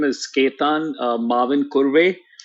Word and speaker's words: Mavinkurve: name is ketan uh Marvin kurway and that's how it's sort of pronounced in India and I think uh